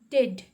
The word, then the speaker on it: dead: Now the next word is dead. Dead, dead. Dead means which is not alive. Okay, the opposite of alive is called dead. And here A is silent.